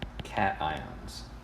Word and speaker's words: cation: positive ions are called cations and the way that it's spelled it's easy to assume that it's pronunciation that's incorrect this is pronounced cation okay like cat ion and if you're ever